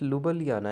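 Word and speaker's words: Ljubljana: इ it pronounce L इट्स लु बलियाना actually they डों produce they do not pronounce the J word Spain Madrid Sweden इ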